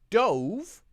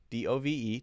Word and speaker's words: dove: Well, the long sound will be the action. So the first one is the action. I dove, D-O-V-E, to catch the dove.